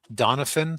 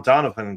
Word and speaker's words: Donovan: Donovan, the way they say it, it has a PH in the middle of it, I believe.